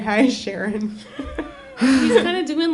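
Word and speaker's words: Charon: Sharon. She does the emphasis on the last syllable. She's like, hi, Sharon.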